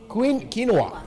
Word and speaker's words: quinoa: It provides 4 nutritious and tasty meals, namely GrandHotCereal, SoupOfLife, LeanMeanBeanProtein, and, boy, if I don't pronounce this one right, tell me, NuttyQuinoaPilaf. Quinoa.